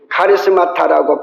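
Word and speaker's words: χαρίσματα: 은사는 좀 어려운 말로 신약을 기록한 말 헬라어로 얘기하면 카리스마타라고 발음한답니다.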